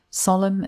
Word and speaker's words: solemn: Solemn means serious and without any humor. And take care with this word as the N at the end is silent.